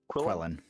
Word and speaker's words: Quellen: It's like Quellen.